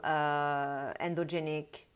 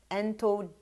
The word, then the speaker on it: entheogenic: It may be talking about ayahuasca, you know, spiritual, endogenic, how we pronounce that? Entheogenic. Well, okay, so I'm talking about basically psychotropic substances that you take with the intention of doing some spiritual work.